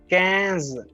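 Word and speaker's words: quinze: similar all right now uh number 15 is cans because i n if you have seen my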